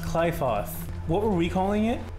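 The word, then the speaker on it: Qliphoth: It's pronounced Clyfoth. What were we calling it? Aliafoth?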